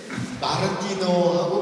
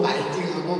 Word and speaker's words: 마르티노: 그래서 말씀을 드리는데, 마르티노하고 말팅하고 같은 건가요? 다른 건가요? 같아요. 말팅이라고도 그러고, 마르티노라고도 그렇게 합니다. 말팅.